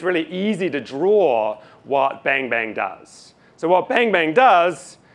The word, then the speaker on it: bang-bang: It's pronounced bang-bang, obviously, as I've just said like five times now.